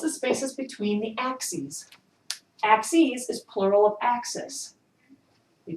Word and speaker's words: axes: Axes is plural of axis. We change the I to an E and it's pronounced axes.